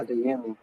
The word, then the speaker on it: Adeyemi: of nowhere, as soon as how do you pronounce his name? Adeyemi, is it? Yeah. Adeyemi.